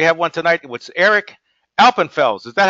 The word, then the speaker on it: Alpenfels: And you'll see we have all kinds of great guests, like we have one tonight with Eric Alpenfels. Is that how you say it, Eric? Alpenfels?